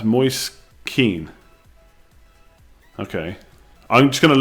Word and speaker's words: Moise Kean: It's pronounced Moise Keane.